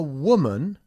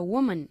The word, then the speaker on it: woman: She's a woman. A woman, ¿ok? La O aquí pues, es difícil pronunciar ya que no existe un sonido parecido en español. Woman, ¿ok? Woman. Woman, no woman, sino woman, ¿ok?